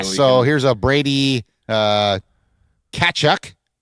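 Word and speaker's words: Tkachuk: So, here's a Brady uh Katchuk. I don't think you pronounce the T in that, right? It's Kachchuck.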